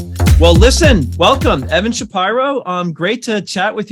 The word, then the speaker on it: Shapiro: everybody their lives unusual it's a it's an unusual pronunciation uh or pronunciation of that name and uh people assume it's because I'm super elitist and douchey I am douchey but I am not elitist it is a is a white trash Philadelphia pronunciation or pronunciation of Shapiro or Shapiro all right well we're